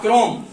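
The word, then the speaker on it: chrome: तो सी एच से तो वैसे क्या बनना चाहिए, चा। क्या बनना चाहिए सी एच से, चा। लेकिन यहाँ क्या उच्चारण हो रहा है, का, क्रोम।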